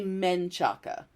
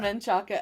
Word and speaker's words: Menchaca: I'm going to say Menchaca. M-E-N instead of M-A-N.